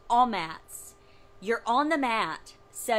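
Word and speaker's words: amats: So the word spelling of it, A-M-A-T-S, A-M-A-T-S, a mats, but in Hebrew, it's pronounced all mats.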